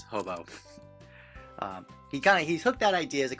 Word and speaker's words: Hoboeaux: of it or I I like they call hob because of the uh spelling in the end but it's really I think it's pronounced as hobo um he kind of